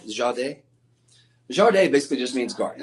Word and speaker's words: jardin: Now, the Jardin, and Chantel Marie, she's from Canada, but she taught me the proper French pronunciation. Did I get that right? Jardin?